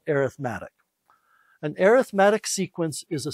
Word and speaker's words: arithmetic: sequences and and it's it's spelled the same way the word arithmetic is but we call it arithmetic an arithmetic sequence is